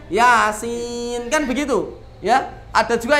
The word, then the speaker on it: Yasin: Jadi jenengan tidak baca yasa gitu. Ada itu di Pucang Gading, istri saya pernah dengar baca yasa. Loh, kan kaget tuh Pak. Padahal bacanya yasin, kan begitu ya.